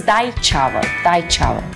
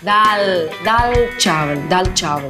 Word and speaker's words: dal chawal: The next one is dai chawal. Dal chawal. It's the best pronunciation.